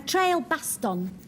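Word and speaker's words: trailbaston: Um, well, a trail baston. You got to pronounce it like that.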